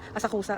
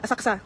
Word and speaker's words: Asakusa: At guys, hindi pala Asakusa ang pagkaka-pronunciation. Asaksa.